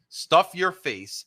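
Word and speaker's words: Stuff Yer Face: to this place called Stuff Your Face, and it's spelled Stuff Y-E-R face. Stuff Your Face.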